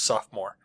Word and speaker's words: sophomore: it is spelled sophomore more but we don't pronounce that oh we just it's sophomore this came from sophomore which is a combination